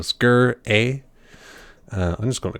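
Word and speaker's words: Sgr A*: a are scre as SGR is how it's spelt but the G in the aura are small its are small they're not capitalized lowercase that's the one that's the word so skirt a I'm just going to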